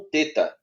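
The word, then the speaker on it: θῆτα: o tal com o teta uhum teta né o teta tem som de TH Às vezes as pessoas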